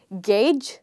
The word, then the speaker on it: gauge: So you would simply say gauge the same way you say game, okay?